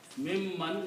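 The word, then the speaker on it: مِمَّن: It says mimman, not min. Right. So not when min. you pronounce this together, Changes. the sound of the noon changes into another meme, sound of another meme. So it becomes mim man.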